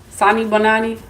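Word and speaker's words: Sanibonani: Um, Sani Bonani. I think that's how you say it. Did I say that right, Cynthia? Sani Bonani.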